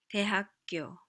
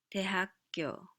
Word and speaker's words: 대학교: 대학교, 대학교, college, university.